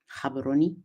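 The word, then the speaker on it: Gaborone: this afternoon in in Cabaroni. We don't pronounce the G, Kabaroni for those of you who may not know.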